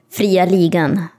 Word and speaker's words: Fria Ligan: I mean, the joke's on you, because everyone in Sweden is going to be like, did you remember how he said Fria Ligan?